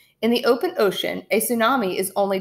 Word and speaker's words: tsunami: kind of wave is a tsunami pronounced tsunami a Japanese word for sea wave a tsunami is generated